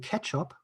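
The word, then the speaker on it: k3sup: this excellent tool called ketchup so k3s up so you pronounce it catch up as far as i know um that comes from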